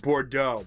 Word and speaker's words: Bordeaux: Like Bordeaux. Bordeaux is French, right? Because the X is silent. That's a French thing, right?